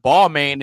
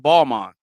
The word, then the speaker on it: Balmain: Just like we all know what Balmain is, but it's actually pronounced Balmain.